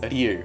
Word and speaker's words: ㄹ: the fourth continent is a year which has it sounds similar to L and R it's kind of in the middle and many foreign people